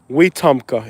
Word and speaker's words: Wetumpka: I would definitely recommend WKA weka is the proper pronunciation we like we are